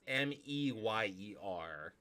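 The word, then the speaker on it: Mayer: will actually sing it m-e-y-e-r which doesn't work but it is Mayor not Meyer well they were not a big it's it's pronounced Meyer it's pronounced Oscar Meyer but it's m-a-y-e-r not m-e-y-e-r we were not a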